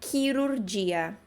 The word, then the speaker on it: chirurgia: Porque a gente tende a pensar sempre no português, né? Cirurgia, que se escreve bem parecido, só que em italiano a gente acrescenta um H. E aí fica o som chirurgia, ok?